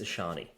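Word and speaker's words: Achane: If you're going to say his name, say it correctly. It's Ashani. We've already established this.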